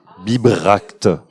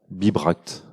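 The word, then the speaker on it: Bibracte: juste parce que comme ça se prononce biberact biberact comme biberon mais pas la même chose de la fin c'est il y a pas de eux non plus et du coup effectivement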